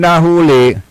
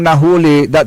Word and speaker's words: nahuli: Kapag sinabi mong nahuli, is that is malamanay. Ang ibig sabihin arrested pero nahuli ah may maragsa pagbigkasan nahuli ah at may atakabay